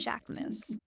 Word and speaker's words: Jacquemus: You don't know what he's going to do next, but you do know it will feel unapologetically Jacquemus.